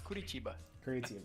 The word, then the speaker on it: Curitiba: Why do I pronouncing it like an American? It's Curitiba.